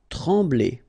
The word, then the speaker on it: trembler: Trembler. Okay, same thing here, nasal, EM, okay, en, trembler, okay, no pronunciation of the M, trembler.